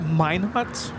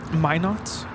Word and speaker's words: Minot: A380 flight heading in the GU laara it's pronounced Minot Min not North Dakota really where is going have fun